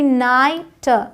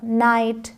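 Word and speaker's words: night: दिया अब यहां समझिए जब आई जी एच आता है तो भी लॉन्ग आई का साउंड होता है साई यहां जी एच का अलग से साउंड नहीं है कह सकते हैं कि ये साइलेंट है साई हाई एन आई जी एस टी नाइट नाइट एल आई जी एस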